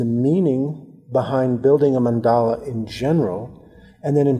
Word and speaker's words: mandala: a light cell is originated from the Sanskrit language and actually is a dr. mandala it's mandala mandala the proper pronunciation of